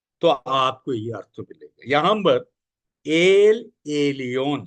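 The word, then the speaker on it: Elyon: यहां पर एल एलियोन spelling, L आपकी समझ में आ गया, एल ई एल, एलियोन ई एल वाई ओ एन, ई एल वाई ओ एन।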